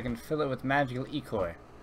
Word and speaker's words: ichor: I can fill it with magical ichor. That's pronounced I-cor.